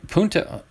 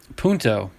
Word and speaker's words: Punto: back-to-back but very close duplicates nice uh nick punta punto nick punto for the dodgers i'm glad the